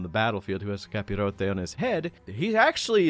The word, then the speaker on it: capirote: But no, the tall conical helmets are actually pronounced capirote, and when wearing these, there is sort of a mental metamorphosis that happens.